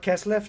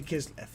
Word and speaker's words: Kislev: cool model isn't it it's bernard keslef not kislev no it's actually kislev it's just uh it's